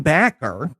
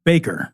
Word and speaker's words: Bakker: this week's show was Jim backer no it's pronounced Baker that's Baker yeah I'm going to do